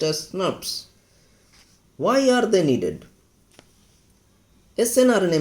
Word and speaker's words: snRNP: SNRPs, pronounced as SNRPs.